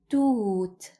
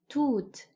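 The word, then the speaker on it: توت: The word of today is toot, toot. Ta, waw, and ta.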